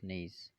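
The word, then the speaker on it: gneiss: verse green eyes kidneys which is pronounced as knees basalt and trip slate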